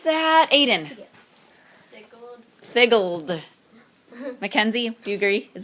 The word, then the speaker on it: figgled: So now let's pronounce that. Aiden. Figgled.